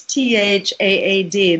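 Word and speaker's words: THAAD: go to stop sad it rhymes with sad but it's tha ad that's the missile system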